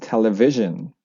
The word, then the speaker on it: television: If a word end with io n usually u the stress is before io n. Uh example um example television. Uh so the stress is here television.